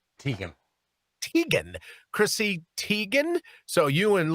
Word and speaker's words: Teigen: John Legend in his own mind, and Chrissy, is that pronounced Teigen? Teigen.